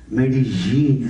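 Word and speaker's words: Medellín: Medellin, what I noticed, they said the correct pronunciation, Medellin, as Jean Span, they said.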